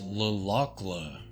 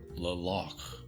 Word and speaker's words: Le Locle: and that it's pronounced Le Locle. I totally thought the LE was silent on there. Le Locle.